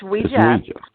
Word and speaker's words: Ouija: Is that the correct pronunciation? Ouija. It's Ouija.